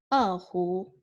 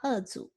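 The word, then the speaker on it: 胡: So yeah, it is spelled Hu. Yeah, so just Hu. Hu. Yeah, not Zu.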